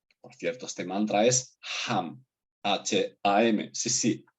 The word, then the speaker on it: HAM: Por cierto, este mantra es HAM, H-A-M, sí, H como de bosón de Higgs, una H que se pronuncia como una J, igual que en el caso del bosón de Higgs.